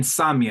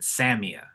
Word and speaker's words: Samia: I'm saying Samia because I'm Latino, but I think she pronounces it Samia. S A M I A.